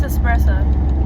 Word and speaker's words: espresso: It's espresso. It's espresso. But people say espresso. Espresso is not correct. It's spelled with an S, and it's pronounced with an S.